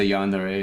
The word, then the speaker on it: yandere: I guess if it has a yandere in it, then... Is that how you pronounce it?